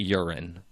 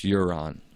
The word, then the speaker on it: Euron: It's not urine. Euron. It's Euron. Euron.